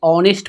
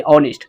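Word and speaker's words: honest: तो यहां पे देखिए हम इसको नेस्ट नहीं पढ़ते ऑनेस्ट पढ़ते ऑनेस्ट जो कि ओ का उच्चारण है यानी कि भवेल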